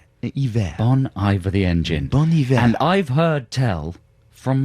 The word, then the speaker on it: Bon Iver: I think you're supposed to pronounce it hiver. Like, Bon Iver. Like the French for like winter. Ivor the engine. Hiver. Bon Iver the engine. Bon hiver.